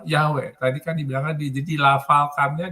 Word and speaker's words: Yahweh: Sama tadi yang pronunciation-nya YHWH itu di pronunciation-nya Yahweh.